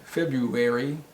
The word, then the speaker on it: February: month of the year f-e-b-r-u-a-r-y how is that pronounced february february no the r is silent in english we just say february february february and what